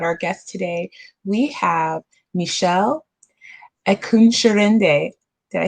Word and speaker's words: Mishelle Ekunsirinde: so excited about our guest today we have michelle eckunscherende did i say it right you do yes